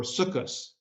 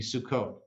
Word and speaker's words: Sukkot: is shabbat accepted because the hard t at the end becomes a soft s in the yiddish pronunciation or sukus would be sukkot or simchas toro you